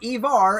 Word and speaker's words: Ivar: Okay, Ivar, and guess what that rhymes with? Silver Bar.